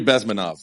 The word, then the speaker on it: Bezmenov: How to pronounce his last name? Yuri Bezmenov.